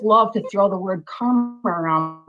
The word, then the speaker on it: karma: And you wanted to be a and mention karma to me, which is actually pron pronounced karma like Kermit the frog.